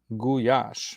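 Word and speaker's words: gulyás: Guash, but it's spelled with a l y, which in Hungarian makes a soft J sound.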